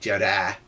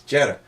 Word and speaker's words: Jetta: if you're very clever what about this e in Jetta that's not Jedi its Jetta well when it's on the weak syllable and it's part of an ending you don't hear it the same way it's not really the